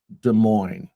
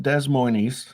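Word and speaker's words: Des Moines: in our state capital the great de Mo not Des Mo E or anything de Mo you know I was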